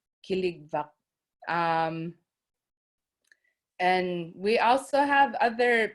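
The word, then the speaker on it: kiligvak: for the word mammoth we have kiliva that's spelled k-i-l-l-i-k um v-v-a killig and we also have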